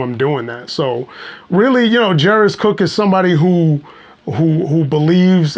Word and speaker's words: Jeiris: So I'll say like, you say it like Ferris, it's Jeiris, but you say it like Ferris wheel, or like Ferris Bueller's Day Off.